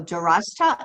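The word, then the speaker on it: دَرَسْتَ: for a second um both of you put in an extra syllable okay you'll notice that there's a succumb over the the third letter okay okay okay go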